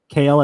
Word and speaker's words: Kale: Kale? Is that, am I saying it right? Yeah, kale as in kale. Okay. Like the super veggie.